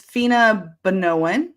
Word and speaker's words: Feena Bonoan: It's Feena Bonoan. It's pronounced two letters at a time.